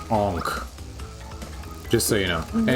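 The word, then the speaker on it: ankh: And that little symbol up there is pronounced onk.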